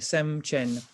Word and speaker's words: sem chen: and chen see that's how we write it phonetically anyway c h e n sem chen mind possessor sem is the mind chen possessor